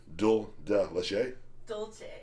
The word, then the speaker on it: Dulce: toffee stuffed and salted How do you pronounce that, Rachel? Dulce.